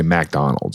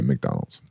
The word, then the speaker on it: McDonald's: the rule is though if it's MC and the next letter is a vowel it's Mac and Mac alroy or you know maoy Mary or uh you know but you wouldn't say MacDonald's You' say McDonald's inter that's the rule